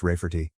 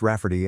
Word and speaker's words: Rayfarty: to name my niece Rayfarty, pronounced Rafferty and not at all like Ray Farty.